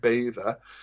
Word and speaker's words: Beddau: So like, I'm from a place called Beddau, which people who live here call it Bather, but depending on the